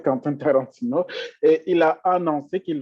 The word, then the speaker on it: Quentin Tarantino: Tout le monde connaît Quentin Tarantino, je vais prononcer en français, Quentin Tarantino, et il a annoncé qu'il vendait des NFT qui portent sur son fameux film-là, Pulp Fiction.